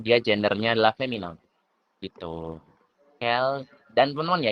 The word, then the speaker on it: quelles: Kel. Dan teman-teman ya, ini cara bacanya sama. Kel.